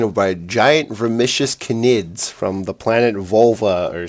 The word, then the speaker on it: Knid: No, that's just It's just how you pronounce it cuz it's it's spelled k n i d and you pronounce the k in knid like you pronounce the k in K'Anthony.